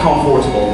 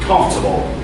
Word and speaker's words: comfortable: be shocked right now it's not comfortable the right way is no o no r so the right way is comfortable comfortable oh really mister i